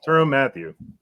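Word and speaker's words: Tyrann Mathieu: don't know Billy what how do you say turn Matthew right he still play yeah is that you say it I've been saying it wrong the honey badger the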